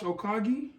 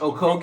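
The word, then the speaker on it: Okogie: he's just team one Josh okagi you didn't even pronounce his name right Josh o'koke you know what I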